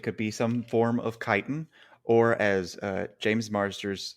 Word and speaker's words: chitin: probably greek but like c-h-i is kai almost certainly it's chitin and not chitten for sure but who